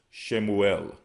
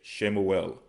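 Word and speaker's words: שמואל: Now, Samuel in Hebrew is Shamwa'allah, okay? Shamwa'allah. They would pronounce it as Shemuel, okay? Shemuel, which again is Samuel, okay?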